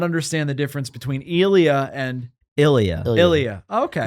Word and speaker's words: Elia: Elia. Is that how you pronounce it? I say Ilya, but it's just You know what's funny? he elongates it. He It's just easier.